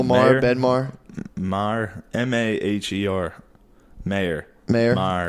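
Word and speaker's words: Maher: Mayor. Marr. It's Marr.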